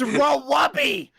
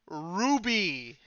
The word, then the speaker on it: RWBY: the only person able to pronounce the name rubik properly unlike this heathen above me it's raw wubby no it's ruby we've been over this